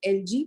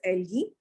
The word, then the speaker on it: algae: Some people say it as algae, but it is algae. Algae के अलावा है bryophytes. Algae, bryophytes, pteridophytes. P is silent.